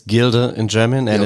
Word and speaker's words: Gilde: know I'm going to mispronounce it gilde is pronounced yeah it's we call it it's Gilda in German and it's the German word for